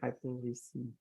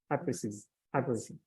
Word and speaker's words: hypericin: Hypericin. Hypericin.